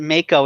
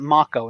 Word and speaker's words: Mako: it in this game I always pronounce that Mako in my head as a kid but now they pronounce it mock Oh in this game with